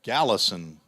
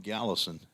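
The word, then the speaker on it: Galason: Caden, we've got to go to the pronunciation guide again. Gallison, G-A-L-A-S-O-N. Not as hard as it looked, but I don't like to start off wrong. Caden Gallison.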